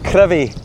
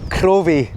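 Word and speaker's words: Crovie: Right, and I noticed that you called it Crevie. Crevie. So, it's it's not curvy. No, it's spelled with an O but said with an I.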